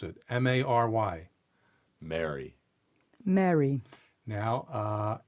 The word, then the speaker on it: Mary: differences there but ironically most of the US people pronounce the name Mary and we'll say merry as in Merry Christmas the same way however if you're from